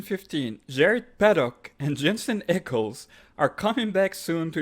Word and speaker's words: Ackles: paddock it's pedalicky and jensen echols again his name is jensen eccles that's a whole butchering